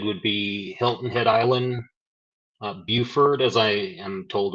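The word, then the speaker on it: Beaufort: hazard locations impacted would be Hilton Head Island Buford as I am told it's pronounced Port Royal shello Burton uh it's also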